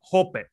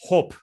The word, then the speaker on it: Hoppe: Today we will be discussing the German philosopher Hans-Hermann Hoppe, or properly pronounced Hoppe.